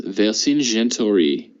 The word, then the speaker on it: Vercingetorix: So I think it's Vercingetorix. Oh wow, yeah, I was gonna say it like English-wise. Vercingetorix. So that's 5 syllables.